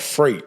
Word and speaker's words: Frayt: It's called Freight. It's spelled Frayt.